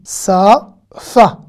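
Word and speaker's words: שפה: Sa-fa. Sa-a. Le point est de ce côté. Hein, du côté gauche. Donc c'est un sin. Sa-fa.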